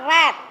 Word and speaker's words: read: Bukan read tapi membacanya tulisannya sama ya. Kita mengucapkannya red. Tulisannya sama read R e A D ya. But we have to pronounce red.